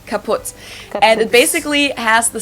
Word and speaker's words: kaput: moved to the us we spell it with two T's in Germany but we pronounce it the same way kaputs and it basically has